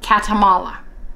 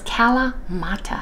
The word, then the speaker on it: Kalamata: okay you guys say Kalamata that's the correct way I end up saying it Kalamata katamala I reverse it I don't know why